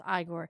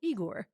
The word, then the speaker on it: Igor: name Frankenstein Igor insists that his name is pronounced igore I always forget if it is Igor or igore because of this movie rather than the traditional eigor would you want a hunchback assistant to help